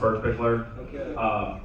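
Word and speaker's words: Birkbichler: For the record, it is pronounced Berkbickler. Generally, so a little backstory on myself here.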